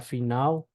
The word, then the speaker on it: final: Les pronuncia en español, excepto al final de sílaba, donde se pronuncia como una U larga, ¿sí? Entonces tenemos, por ejemplo, la palabra finao, ¿sí?